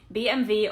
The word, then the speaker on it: BMW: It's actually BMV or Burva Mercedes and Volkswagen.